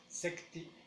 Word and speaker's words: sekti: En la segunda es para cortar, sekti, pero ponemos más énfasis en la segunda sílaba, sekti, sekti.